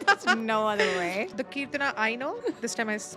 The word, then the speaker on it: Kirtana: The Keertana I know, this time I pronounced it Yes.